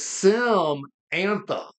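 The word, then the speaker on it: Simantha: It is Sim Antha, as in like Samantha, but she named it Samantha.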